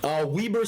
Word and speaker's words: Weber: Weaver State? Weber States. The college, not the state. Can you spell that?